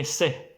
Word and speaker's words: ث: Sa is almost same like C in English, but not totally. It's more like sa. In Arabic, classic Arabic, they will say sa, sa. In Egyptian, they will say se, se, se, se, se.